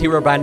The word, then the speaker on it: Herobrine: you're pronouncing this guy's name wrong it is not Herobrine it's Herobrin let me explain you may be